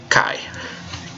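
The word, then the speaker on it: καί: it turns out that these two vowels are pronounced together cuz they're a diphthong they make the long I sound like an aisle I'm still not sure if write pronounce wrote felt that right or not but yeah it makes the long I sound isn't I'll put the capo sound in front of that and you get Kai Kai that's automatic that the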